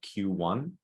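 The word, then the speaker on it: Queue One: like short-term consulting um a company is called q1 uh tell that and spell that if i can that's a tough word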